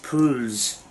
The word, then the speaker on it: PULUZ: break um bush um yeah it's the it's pronounced p u l u usa pools um and it is the uh remote shooting